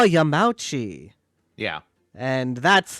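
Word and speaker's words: Yamauchi: on the cover and I said oh yeah y Yami and then they didn't know what I was talking about I I looked and I found it I showed it to them and they said oh yam mouchi yeah and that's how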